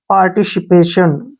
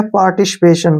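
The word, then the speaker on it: participation: टी आई ओ एन टी आईओ को हम लिखेंगे श और एन का न ऐसे पार्टिसिपेशन क्या हो गया पार्टिसिपेशन पार्टिसिपेशन होता है बटवारा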